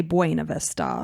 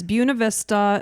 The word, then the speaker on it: Buena Vista: this town because here in Florida, we say Buena Vista. Yeah, like Disney, Lake Buena Vista. Mm-hmm. But it's Buena Vista. It's how they pronounce it, I guess, in Michigan and Colorado.